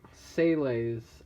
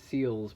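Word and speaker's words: SEELE: And basically it follows Sele's. I feel like it should be pronounced Seals, but that's how they pronounce it in the show.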